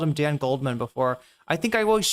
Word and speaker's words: Dan Goldman: Why did I always like say his name Dan Golden? I swear to God I don't think I've ever called him Dan Goldman before.